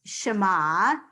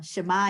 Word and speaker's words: Shema: So the last letter in the word Shema is ayin. Ayin is silent.